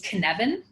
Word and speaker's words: Cynefin: that I know how to pronounce it is Cynefin. So it's spelled Cynefin.